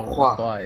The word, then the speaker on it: LaCroix: LaCroix, even though LaCroix is the proper pronunciation.